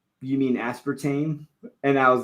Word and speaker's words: aspartame: this whole thing where I used to pron pronounce aspartame aspartame awesome don't ask me why I think it's because of Spanish sometimes like my mind will go there where you pronounce like the vowels like each vowel right like and so like